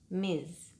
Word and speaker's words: Ms: for someone who is married, Miss for someone unmarried, and Ms, pronounced Ms, which we use when a woman's marital status is not known.